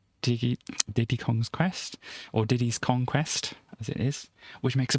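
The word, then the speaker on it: Diddy's Kong Quest: makes a pun so you've got to say it right because you know previously i'd read it read it as a diddy d kong's quest it's not that is diddy's conquest so there we go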